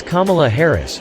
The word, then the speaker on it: Kamala Harris: It's Kamala Harris, Ron.